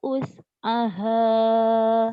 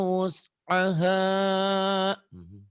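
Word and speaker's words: وسعها: La yukallifullahu nafsan illa us'aha. Bukan us ya wus, usaha illa wus'ah. Kamu teh us tapi karena ragu jadi kadang-kadangnya kayak us. Padahal tadi bener wus.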